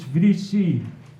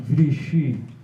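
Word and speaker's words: βρύση: It's Vrisi, not Vrishi, my teacher of modern Greek, who came from modern Greece, corrected me.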